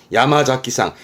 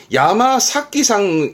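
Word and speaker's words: 山崎: 야마자키상, 야마사키상 하기도 합니다. 야마사키상, 야마자키상 다 있습니다. 근데 여러분, 이름 나온 김에 지금 이 한자는 주로 지명과 인명에 쓰인다 하면서 지금 야마자키상까지 나왔는데, 교재 기초 공부하다 보면 늘 나오는 이름 중에 하나잖아요?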